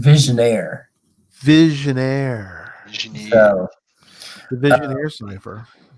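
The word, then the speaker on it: Vigenère: And it's pronounced visionaire.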